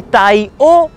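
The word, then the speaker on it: Tai O: दोस्तों ये जो गांव है इसका नाम है ताई ओ या ताई ओ, अपना जो ताऊ ताई वाला ताई होता है बिल्कुल वही स्पेलिंग है, टी ए आई ताई ओ, ठीक है, ऐसे समझाना पड़ता है यहाँ के लोगों को।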